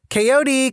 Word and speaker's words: Kod: one behind her back kod my mother called the dog's name was k o d though way pronounced every letter kote come here as expected